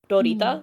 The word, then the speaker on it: Lolita: I actually refrain from saying the word Lolita, and I use Rolita, like the Japanese pronunciation.